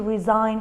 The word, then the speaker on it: resign: the silent letter here a silent letter is G in all these words letter g is silent is not pronounced